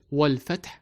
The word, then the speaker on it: والفتح: Notice hamzatul wasl sign here. So this special hamza is pronounced only when needed. That is, when the word comes by itself or at the beginning of a sentence with no preceding word before it. Otherwise, the a sound of al is not pronounced.